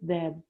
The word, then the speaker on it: debt: Instead of running away like many people would have, he stayed and worked to pay off his debt. Debt. You don't pronounce the B, Debt.